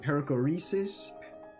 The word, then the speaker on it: perichoresis: Other things like the perichoresis, choresis, let me try to pronounce this correctly. Perichoresis. It's a Greek word, and it basically means it relates to the Trinity.